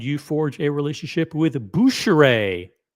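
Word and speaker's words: Bucherer: forge a relationship with buer that's the French pronunciation the retailer called buer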